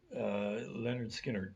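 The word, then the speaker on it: Lynyrd Skynyrd: Leonard Skinner, pronounced.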